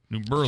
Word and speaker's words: New Berlin: It's Berlin, Germany. It's New Berlin, New York. New Berlin. Just how it's pronounced. Maybe it was a redneck thing. I don't know, but that's how everybody in New Berlin pronounces it.